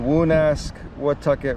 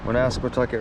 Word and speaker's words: Woonasquatucket: the longest time, but this is how you spell it. The Woonasquatucket River. Woonasquatucket River.